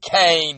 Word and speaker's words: Kane: It stars Wesley Snipes, Michael Wright, who y'all know is Eddie King Jr., or as we pronounce it, Eddie Kane Jr.